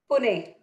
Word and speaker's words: Pune: Pune.